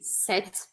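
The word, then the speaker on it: cet: e olha a explicação a gente usa esse set a gente fala assim ó set set quase set mas esse final é mais curtinho set a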